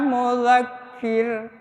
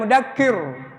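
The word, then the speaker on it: مذكر: Jadi innama anta mudzakir bukan mudakkir ya.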